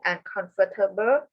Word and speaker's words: uncomfortable: Yeah, you pronounce it slightly too many syllables.